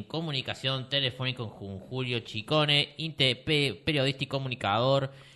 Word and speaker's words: Ciccone: muy bien muy contento porque has pronunciado mi apellido como se debe Sí qué tal Cómo